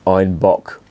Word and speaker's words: Einbeck: basically where this beer was revived einbeck is pronounced Ein Bach and in in German or in Bavarian certainly